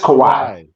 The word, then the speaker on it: Kawhi: It's just Kawhi. Like there's no he. Cry, it's like cry, but just with a just cry.